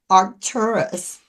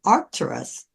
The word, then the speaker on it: Arcturus: point in time and they pronounced it with an accent on the R. And it wasn't really until I heard someone with a British accent refer to Arcturus that I realized um that's what they were saying.